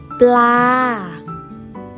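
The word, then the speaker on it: ปลา: Thai is pronounced as ป ล า ป ล า Again, please.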